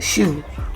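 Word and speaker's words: SHU: the special housing unit known as the shoe pronounced shoe or the the shoe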